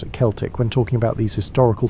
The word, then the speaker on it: Celtic: The Celtic peoples, and yes, we pronounce it Celtic when talking about these historical folks, not the basketball team pronunciation, occupied a vast swaith of Europe stretching from modern-day Turkey to the Atlantic Ocean.